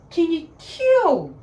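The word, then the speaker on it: kin kyau: Just say, can you kill? King Kill. That is actually sounding Korean.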